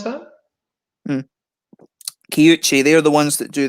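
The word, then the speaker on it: Kiuchi: How did you pronounce that? Kyuchi, they're the ones that do the Hitachino Nest beers.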